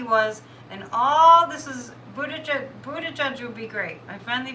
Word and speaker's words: Buttigieg: how guilty he was, and all this is, Buttigieg would be great.